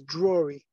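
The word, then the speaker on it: Drory: it's spelled n-i-r and my last name is Drury it's spelled d-r-o-r-y thank you I just want to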